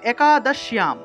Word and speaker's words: একাদশ্যাম: তা দেখুন, এখানে লেখা হয়েছে একাদশ্যাম। এখানে দেখুন তালবস্যের সাথে একটা জফলা আছে। আমরা জানি অন্তস্থ জফলার উচ্চারণ হলো ইয়া, ইয়, ঠিক আছে। তাই এখানে যেহেতু জফলা আছে, জফলার পরিবর্তে আমরা ইয় উচ্চারণ করব।